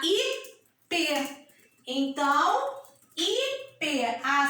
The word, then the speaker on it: ipê: Lembra que a tia falou quando tem um acento circunflexo o som é fechado? Então eu não vou falar Ipé, porque Ipé o som é aberto. Eu vou falar Ipê.